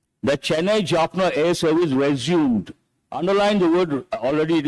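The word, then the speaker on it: résumé: we pronounce this resum it's a French word resum that is actual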